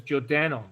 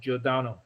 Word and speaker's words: Giordano: sound to you people some of you may pronounce it as jodano but i prefer to pronounce it giordano how does giordano sound